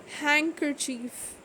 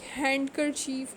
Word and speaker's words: handkerchief: silent like for example d is not pronounced in the following common words handkerchief sandwich wednesday we are not going to say like handkerchief or sandwich or wilderness